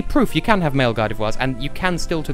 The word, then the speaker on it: Gardevoir: I've heard so many people pronounce it Gardevoir. Like, no, it's Gardevoir, because it's fucking French.